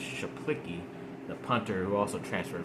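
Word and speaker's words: Czaplicki: say his name Eddie it looks like czap licky but I think it's chaplicky the punter who also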